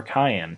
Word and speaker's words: cyan: I'm going to start by clicking the word CMYK, and I'm going to go to cyan, or cayenne, depending on how you say it.